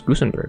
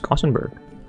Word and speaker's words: Gusenberg: Comforts of your Tavern I didn't realize actually pronounced as Gusenberg I thought it was kenberg so on behalf of